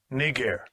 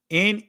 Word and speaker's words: Niger: So what's the proper pronunciation of Niger? You guys already know this. It's right on your screen. And I'll play it again. Strong's G 3526. Niger. So you see here, Neeger is similar to Neager as we discovered earlier.